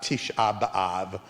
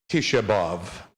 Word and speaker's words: Tisha B'Av: us to talk about tisha b'av or as you may have heard it with the more yiddish pronunciation tish above this is a very